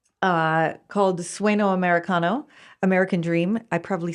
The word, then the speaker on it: Sueño Americano: I wanted to talk about your work you did called Sueño Americano, American Dream. I probably said that wrong. Help me with my pronunciation. Yeah. Sueño Americano.